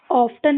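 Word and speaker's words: often: Actual में ये ऑफन नहीं होता है क्योंकि इसमें टी इ एन लास्ट में आया है तो यहां पर भी क्या होगा?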